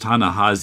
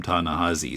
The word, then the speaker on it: Ta-Nehisi: I don't know why, but it's pronounced Ta-Nehisi, even though there's an I there. Okay. Because he guests occasionally on a podcast I listen to, and they always call him Ta-Nehisi.